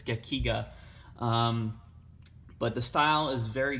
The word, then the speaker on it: gekiga: I keep saying it and pronouncing it in different ways, but it's Gekiga.